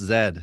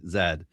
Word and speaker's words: zed: It's pronounced zed, not zed.